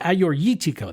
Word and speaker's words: Assyrtiko: It looks like Assyrtiko, but it's Assyrtiko.